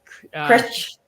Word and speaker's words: Cruit: Is that how you pronounce that? In Critch. Yeah. Critch, okay.